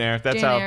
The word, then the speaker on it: Eyre: Yeah, just Jane Eyre. That's how she likes to go. Why doesn't she just spell it A-I-R?